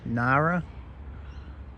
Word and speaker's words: Ngara: to pronounce it but it's pronounced Nara so g is silent all right this is